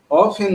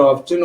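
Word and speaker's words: often: ওপেন অফেন by sucking out blood from there body. এখানে অফেন উচ্চারণ হয়, আবার অফটেন উচ্চারণ হয়, একটা ব্রিটিশ একটা আমেরিকান।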